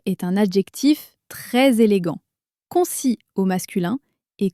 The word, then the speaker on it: concis: Faisons attention à la prononciation car elle change selon le genre au masculin concis. Le s final est muet, on ne l'entend pas. Répète après moi un message concis au féminin.